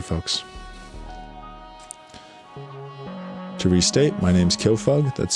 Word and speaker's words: Kyofug: To restate, my name's Killfug. That's spelled K Y O.